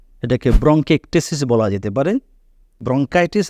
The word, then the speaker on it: bronchitis: ব্রঙ্কিটেসিস বলা যেতে পারে ব্রঙ্কাইটিস আর ব্রঙ্কিটেসিস উচ্চারণগত ভিন্নতা আছে এবং রোগেও ভিন্নতা আছে